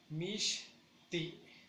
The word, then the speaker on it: mishti: Mishti, mishti, mishti. Y para decir está nublado, mishta, igual, mishta. Yo le daría mayor prioridad a la última acentuación, que es mishti, que es donde cortamos y pronunciamos, le damos más fuerza.